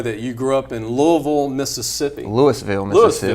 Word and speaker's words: Louisville: But want to mention, though, that you grew up in Louisville, Mississippi. Louisville, Mississippi. Louisville. They still Louisville in Kentucky. Yeah. We use the English pronunciation.